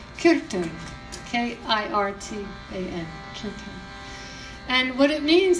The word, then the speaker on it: kirtan: what is called kirtan some people call it curtain or kirtan but it's a Sanskrit word and it's actually pronounced kirkton k-i-r-t-a-n and what it means is to come